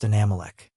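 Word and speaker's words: Anammelech: Anamealch pronounced Anamech."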